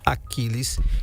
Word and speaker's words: Achiles: Doutor ponto vai se escrever como eu tô pronunciando, Achiles, tá? Com ch, tá bom? Vai aparecer na sua tela aí, Dr. Achiles, que é Dr. Aquiles.